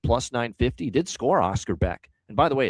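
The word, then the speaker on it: Bäck: Did score Oscar Beck. And by the way, it's Beck. Don't be fooled by the spelling. It's not back. It's Beck. Even though it's spelled back.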